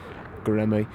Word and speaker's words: Göreme: Göreme, I believe, is the correct pronunciation of it. I've been saying Görem the entire time. Göreme is apparently the correct one.